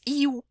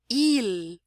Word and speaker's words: il: Então, naturalmente, se a gente pronunciar em português, nós diríamos iu, né? Iu. Mas no francês, como em várias outras línguas, o L tem som de L no final. Então, é il, il.